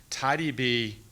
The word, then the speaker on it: TiDB: it's important to know tidy b is not mysql tidyb rhymes with mysql so they're similar for